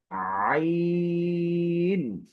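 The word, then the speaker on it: عين: এই হরফটি উচ্চারণের ক্ষেত্রে আমাদের কণ্ঠনালীর মধ্যখান হতে এই হরফটি উচ্চারণ হয়েছে, যার কারণে শুরুতেই আ আ একটি চাপ, গলায় একটি চাপ সৃষ্টি করেই তারপর হরফটি উচ্চারণ করতে হয়।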